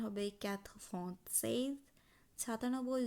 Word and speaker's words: cent: ১০০ উচ্চারণ করব CENT, সঁ।